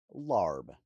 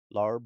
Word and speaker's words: larb: Larb, also found with the spelling L Aab, which is closer to its phonetic pronunciation, is a beloved culinary